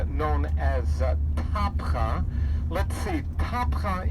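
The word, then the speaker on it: Tabgha: Let's see, Tapcha is both the Arabic pronunciation and abbreviation of the original Greek word heptagon.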